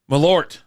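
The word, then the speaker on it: Malört: I will'll drink it is it called marlau or what's it called it's called something it's not that Ain how you say it is that how you say it malort malort there you go malort there you go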